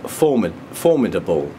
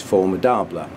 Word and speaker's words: Formidable: So yeah, the other infundibulum cross I've got is well, I heard it pronounced by 3 people at Wessex today as formidable, whereas I believe it should be pronounced the French way, which is formidable.